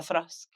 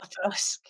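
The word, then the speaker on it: Auchroisk: A thrusk is how you say that, and it's like, how would you Oh, I'm not gonna say how I used to say that. Thrusk is how you pronounce it.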